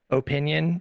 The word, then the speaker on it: opinion: You can have that opinion.